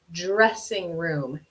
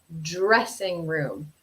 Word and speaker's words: dressing room: dressing room dressing room practice that pronunciation with me that d r sound can be a little tricky sometimes dressing room dressing room okay so where we